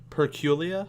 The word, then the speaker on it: Perculia: And, yeah, guys, this has been an interview with Perculia. I pronounced that right? Yeah. Yep, most people call me Perk, but Perculia it's cool too.